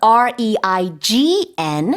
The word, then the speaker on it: reign: This is R-E-I-G-N with a silent G.